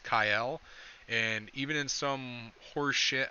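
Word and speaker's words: Kael: of kale who apparently his name is pronounced kyle and even in some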